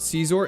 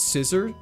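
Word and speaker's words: Scizor: It's not Caesar, it's Scissor. There's no way it's meant to be pronounced as Scissor, right?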